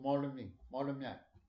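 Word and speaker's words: Moulmein: And then we moved from the town to Molaming. In the British English way, you pronounce Molaming. Molaming or something. Not Ming. M-Y is not possible for you, I think.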